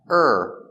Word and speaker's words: or: it coming today or or is pronounced er because it's not stressed today or today